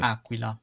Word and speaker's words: Aquila: They actually have a pronunciation aquilla.